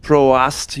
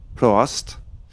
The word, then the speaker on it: Prost: Had a little comment on the Facebook stream from Donato Friend's dad that Prost was pronounced Proast. I think you have to say the A, Prost.